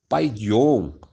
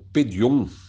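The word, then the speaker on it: παιδίον: aqui para criancinha é a palavra paidion ou pedion conforme né fala-se que é que é a pronúncia da palavra grega e Essa palavra não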